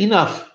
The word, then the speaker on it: enough: O certo é enough. Enough. Esse GH tem um som de F mesmo. O OU tem um som de A com circunflexo. Enough. Enough.